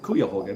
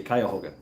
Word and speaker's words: Cuyahoga: burnt uh cuyahoga uh i pronounce it cuyahoga because that's the way it's found but they say cuyahoga the kyohoga river caught